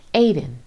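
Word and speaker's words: עדן: heavenly bliss on earth in the hebrew tongue this place is pronounced aiden but in king james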